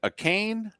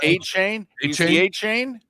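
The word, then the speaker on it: Achane: his name wrong okay is it a cane a chain I think it's a cane right a chain it's a chain a chain okay so uh he's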